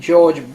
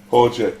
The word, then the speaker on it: Jorge: They had to quickly correct themselves and issue a new message to the real winner, Argentine George Bergoglio. Jorge. That's Jorge. Jorge, thank you.